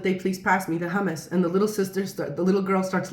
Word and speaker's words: hummus: And she said, "Hummus," like this.